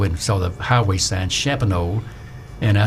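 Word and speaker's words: Champagnolle: said it's not even there anymore it's called shabonneau and it's ch a mpag NOL le trench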